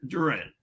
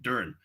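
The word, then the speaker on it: Duren: Jalen Duran. Why am I saying his name wrong? Duran.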